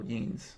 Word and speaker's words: Jens: for the future podcast J is said like ye in the word yellow oh yans yeah I don't I